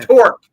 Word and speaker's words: Torq: ever heard of that talk detail you can't even pronounce it can you see T yeah torque with an R pretend you're a pirate NE never saw it